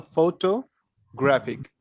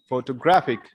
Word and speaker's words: photographic: you can pronounce it you have to speak this part here to here slowly photo and when you are going to speak this part graphic you need to be a bit louder photographic all right how would